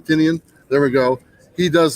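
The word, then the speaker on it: Tynion: of the park and James tinian or tinan nobody pronounces it right except for him tinian there we go he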